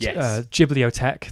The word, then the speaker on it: Ghibliotheque: Ghibliotheque, that is spelled GHIBLITHEQUE, like discotheque.